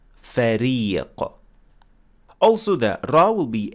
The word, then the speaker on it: فريق: So here we notice in the first word here that has ra that we said فريق, not فريق. That is not correct. You have to pronounce the ra as empty mouth, so you pronounce it as ra, فريق.